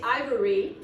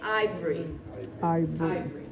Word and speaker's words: ivory: fight here's another word some people say ivory but most people are going to say ivory so what you're doing is you're taking out one vowel sound is what you're doing